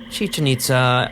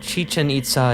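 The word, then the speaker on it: Chichén Itzá: the name is spelled chichen itza in spanish and the accents are sometimes maintained in other languages to show that both parts of the name are stressed on their final syllable other references prefer the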